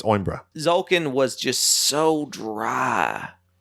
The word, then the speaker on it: Coimbra: The C is silent. It's Oimbra.